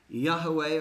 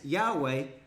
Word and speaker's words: Yahweh: God has which is Yahweh or a young Vey there's a debate on how it actually be pronounced but that's what God's